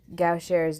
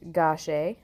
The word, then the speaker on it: Gaucher: vaculization lipid storage diseases gauchera's disease pronounced gauche inherited recessive deficiency of